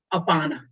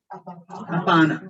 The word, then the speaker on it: apana: That's called apana. Say apana. Apana. So your prana, apana. They nicely rhyme, prana, apana.